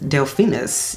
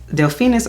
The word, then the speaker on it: Delphinus: So this is Delphinus. Yes, Delphinus or Delphinus, I've seen pronounced both ways.